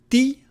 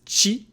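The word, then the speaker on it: ち: In Japanese, ti doesn't exist. It's chi, tu doesn't exist either. So it's tachitsu.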